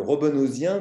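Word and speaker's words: Robenhausien: corpus de de term il appelle ça le Roben husien ou Roben hausien mais il aimait bien le prononcer il insistait pour qu'on le prononce à la manière française par antiprussianisme le robonosien donc qui est le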